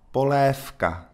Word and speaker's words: polévka: Vì vậy thì nó đổi cách phát âm của phụ âm đứng trước về hữu thanh thành F vô thanh. Polévka.